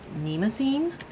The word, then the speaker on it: Mnemosyne: not too heavy and uh this is the nemine that's how you say it and this is